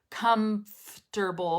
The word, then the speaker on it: comfortable: the word comfortable okay this has an m but we're not pronouncing the m like comfortable because that's really difficult so remember what i said the mouth prepares itself for what's coming next so we say come f because the next sound is the f